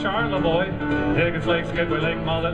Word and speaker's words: Charlevoix: I've been to Troy and Leroy. That's all that rhymes with Charlevoix.